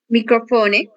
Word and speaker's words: microfone: Microfone. Isso, exato. Na mesma coisa de telefone, nós vamos ter a sílaba tônica fó, ok?